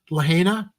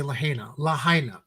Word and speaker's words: Lahaina: The blazes ballooned and by late morning had spread to, I keep mispronouncing it, Ed, Lahaina. Because I keep wanting to say Lahaina.